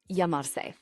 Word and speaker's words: llamar: This is the brief on the essential Spanish verb yamar. So you're ready to introduce yourself in Spanish, right? Well, this is the verb you need. Yamar.